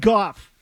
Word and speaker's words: Goff: Jared Goff Rhymes with cough.